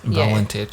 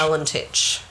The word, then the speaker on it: Valentich: Valentich. Yeah. Valentich. Proud of you on your pronunciation with that. I don't know if that's how you pronounce it, but that's how I'm going to say it.